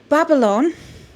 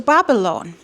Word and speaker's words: Babalon: So yeah, Babalon is somebody.